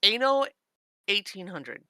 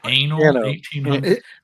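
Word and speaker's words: Anno 1800: Is it It's pronounced ano 1800. Oh, cool. Yes. Did you say anal 1800?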